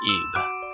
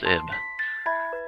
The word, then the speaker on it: Ib: thinking risk that says ib but no actually i went and checked it out and it's actually supposed to be pronounced eve as you would say eve i guess it's because